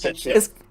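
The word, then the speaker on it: Cait Sith: It's Ketchy. It's Ketchy. Yeah. Ketchy? Like catch it. Yeah, Ketchy. I don't know. Not cat shit. She. It's a Scottish thing, apparently. So.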